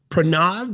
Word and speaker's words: Pranav: Today I'm here with Prrenav. Did I pronounce that correctly again?